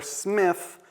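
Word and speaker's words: Psmith: watchfulness enlists the titular Smith. The P is silent by the way like pterodactyl.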